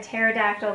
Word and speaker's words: pterodactyl: can't you hear a pterodactyl go to the bathroom this is your cat a joke because their way up in the air and you can't hear that because this the P is silent okay Terry I can't